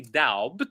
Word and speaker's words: doubt: And by the way, for the word doubt, we don't pronounce the B. We don't say doubt.